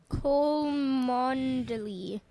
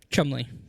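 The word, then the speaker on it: Cholmondeley: Cholmondely. Okay. Trollmondely. Okay. Chumley. Chumley? Chumley. Just simple two syllable Chumley.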